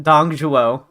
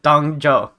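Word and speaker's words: Dong Zhuo: Everyone pronounces his name differently. There's no need to be on guard. Jashu pronounces it Dongzhuo, and other people call it Dongzhou.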